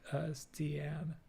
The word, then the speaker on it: Stian: I'm so bad at explaining pronunciation via text, but it's kind of like Stian. Oh, Stian.